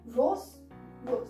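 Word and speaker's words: roses: Rose. There is no pronunciation of S here.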